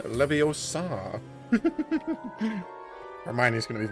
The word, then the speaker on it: Leviosa: right never your soul it's not levioso Leviosa Hermione is going to